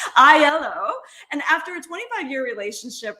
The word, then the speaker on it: Aiello: this week we're interviewing rosie aylo i yellow sorry i said it wrong again i yellow and after a 25-year